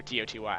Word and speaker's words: DOTY: will be Noobs.DOTY, or D-O-T-Y. I don't know how to pronounce his name, but I believe it's DOTY. I like saying Doty better than Dotty.